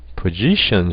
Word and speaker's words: position: 이 단어도 원래 우리가 포지션이라고 그러지만 이음절에 액센트가 있죠. 그럼 앞으로는 포지션이 아니라 position 슈아를 적용하셔야 되죠.